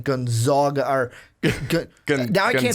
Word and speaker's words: Gonzaga: Thinking back on the segment that we talked about last week with Gonzaga, where they basically crowned their asses.